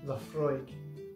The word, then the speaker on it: Laphroaig: Laphroaig, pronounced Laphroaig, is a all malt Scotch whiskey from the remote islands of Islay in the Western Isles of Scotland. Laphroaig is a Gaelic word and it means the